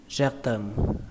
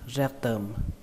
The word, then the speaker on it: rectum: Âm thứ hai là term, term. Hoặc là nếu các bạn khó đọc hơn, bởi vì sau khi là rect term thì nó hơi khó, thì các bạn có thể chuyển thành âm T luôn cũng được. Có thể đọc như mình, đọc là rectum, rectum, rectum.